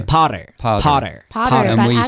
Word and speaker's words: Potter: Oh, by the way, how do you pronounce Harry Potter? I sound more like an American. Potter. Yeah, that's American. Potter. Potter. Potter. Potter Potter. So those T's in the middle of a word, Americans will tend to do it.